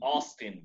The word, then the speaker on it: Austin: ¿Cómo pronunciarían este nombre en inglés? Austin. Yes, Austin.